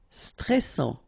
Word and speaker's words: stressant: Stressant. Final T not pronounced. A-N together. En. And then double S. Sans. And it will open the pronunciation of your E.